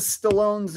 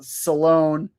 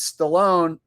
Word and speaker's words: Stallone: R Y says Trump mispronounces Stallone's name, calling him uh Salone, and Stallone was totally cool about it and said nothing. Oh, yeah. Yeah, I remember when that happened. when Trump gave an honorary medal to kiss and uh Sylvester Salone and he mispronounced Salone's name or Stallone's name by calling him Salone.